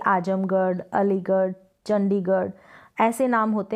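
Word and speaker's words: आज़मगढ़: किया जाता है जिंदगी यह आज़म घर नहीं पढ़ेंगे आज़म गढ़ करके इसको प्रोनाउंस करेंगे अली गढ़ चंडीगढ़ इस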